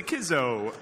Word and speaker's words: CISO: It's pronounced GIF. It's the Kizzo.